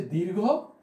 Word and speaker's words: দীর্ঘ: আমরা বলতাম যে রস্মি দীর্ঘী হ্রস্ব, এই যে বলতাম, উচ্চারণ আমাদের একটু ভুল ছিল। আসলে বিষয়টা হচ্ছে এই, উচ্চারণটা হবে এরকম যে হ্রস্ব এবং দীর্ঘ।